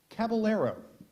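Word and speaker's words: caballero: we go round 24 final five moving on cabalero cabalero cabalero cabalero mhm c a b b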